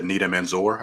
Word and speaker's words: Nida Manzoor: Um, and I think overall it's just a fun movie, and it's really kudos to Nita Manzoor. I think that's how you pronounce her name, the director.